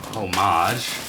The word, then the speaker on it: homage: this bag comes from homage right h-o-m-h-e-e right some people pronounce the h some people don't either way this right